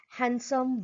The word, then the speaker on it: handsome: Handsome, Wednesday, sandwich. Here you can notice silent D in the above mentioned word.